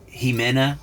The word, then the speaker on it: Ximena: Her name was Jimena, and it's spelled with an X.